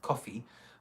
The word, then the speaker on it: Ko-fi: account with a website a service called coffee but it's spelled Khao - Fi absolutely a great idea